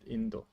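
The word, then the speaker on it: 인도: India is in Korea we pronounce it Indo.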